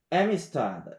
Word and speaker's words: Amistad: 자, 여기서 이제 어떤 얘기를 좀 한번 드리고 싶은 거냐면 the Amistad 이게 우리나라 말로는 아미스타드인데 여기 이제 앞에 강세가 가니까 뒤에 음절이 죽거든요. 그래서 아미스타드가 아니고 Amistad or Amistad 이렇게 발음을 하시면 되고 여기서 이제 그 영화를 만들었던 그 인물 아까 그 누구죠?